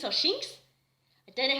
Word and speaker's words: Shinx: And you've got the Luxio and the Sphinx that, I think it's called Sphinx or Shinx. I don't know how to pronounce it, but I think it's Shinx. He's had the Shinx, and